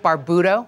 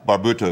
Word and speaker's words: Barbuto: good morning good morning did i say it right barbudo barbuto it means beard in italian oh yeah beer do